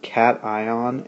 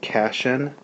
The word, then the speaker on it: cation: to you about are cation and anion i know that word looks like cassian but it's pronounced cat ion cations are ions that